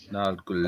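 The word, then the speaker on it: Nørgaard: Yeah, Norgard. Or Norgul or whatever it is. He actually says it in these the video clips of how they pronounce their names. Yeah. Norgul.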